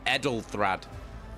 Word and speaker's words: Ethelred: Yeah, go on, piss off, Ethelred. Oh yeah, it's not pronounced. Oh, it's Edelthrad. I'm saying it wrong.